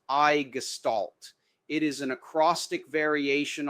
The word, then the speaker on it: i6estalt!: The sections of this system are based upon this word I6 estamation mark which is pronounced I gestalt.